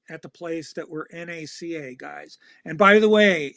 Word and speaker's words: NACA: and by the way it's always NACA not you never you never pronounce it as a word okay and you once it flips never pronounce the letters okay it's always NASA right so there it's